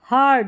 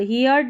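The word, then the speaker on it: heard: हर्ड हियर्ड नहीं पढ़ना है।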